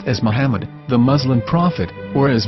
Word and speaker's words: Muhammad: after the H according to Ben yehuda's Hebrew English dictionary it is correctly pronounced as Muhammad not mammad so how we're going to know for sure if it's pronounced as Muhammad the Muslim Prophet or